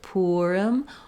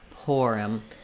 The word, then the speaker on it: Purim: So for the holiday Purim, you can either say it with an Purim, or an Purim. Both have first syllable stress, and the letter I says the I sound in Purim.